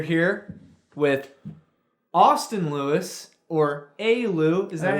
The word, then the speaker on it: Alew: We're here with Austin Lewis, or Alew. Is that how you pronounce it?